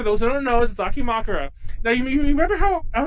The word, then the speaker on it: dakimakura: said it right now the cocky Murr that was the word I would always say instead of dakimakura did you hear a